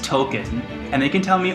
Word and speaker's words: Tolkien: will say from my my final thoughts it's pronounced token and they can tell me all they want that it's pronounced tolkien but like it's pronounced token that's what i'm